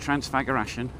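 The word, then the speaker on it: Transfăgărășan: Now, all of this is associated with having been away on a tour to Transfagarassen Highway. And I know it's pronounced Transfagarassen. So just an idea of what it costs.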